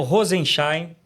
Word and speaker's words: Rozenszajn: Hoje no Resenha Brasil Política, nós temos a honra de receber aqui o major Rosenstein. A pronúncia tá certa aqui, major?